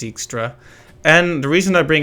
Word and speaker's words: Dijkstra: of fascinating you know like dijkstra although they pronounce it extra and the reason i